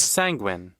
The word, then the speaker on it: sanguine: the things yeah he's sanguine rhymes with sanguine penguin i'll do that again